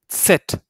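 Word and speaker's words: Zett: x this is ipsilon okay ipsilon this is set yeah set if you think it will be difficult to pronounce set and for example this one it's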